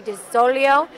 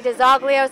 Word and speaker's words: DiZoglio: actually as third generation we actually say the name uh a little bit differently than it's supposed to be pronounced this is supposed to be de solio we say de zoglio so however you want